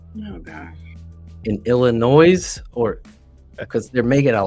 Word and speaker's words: Illinois: you she said Illinois she said how do you say say that state again sh Siri can you how do you say Illinois Illinois noi okay she did say noi yeah all right you're